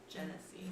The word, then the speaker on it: genasi: It's actually pronounced Gen. Genesee. Gillisy. Genesee. Genocide. It's like Hennessy.